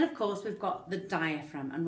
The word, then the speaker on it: diaphragm: course we've got the diaphragm and when we spell that word don't forget the G it's spelled okay don't forget that G so the diaphragm is